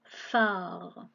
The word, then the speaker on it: phare: avec les lettres PH, comme dans le phare. Et dans le phare, c'est le PH qui fait F et le A qui nous permet de faire la syllabe Fa.